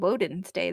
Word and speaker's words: Wednesday: it was still just called wen's day that's easier to say and when you write it out would make more sense wen's day why is it called wedness day now and why do we pronounce it Wednesday the same reason pronounce